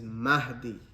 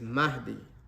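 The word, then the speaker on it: Mahdi: I mentioned many times a lot of the brothers that have come across they don't pronounce this name so the first thing we need to correct is the name his name the rightly guided is mahi what didam mention about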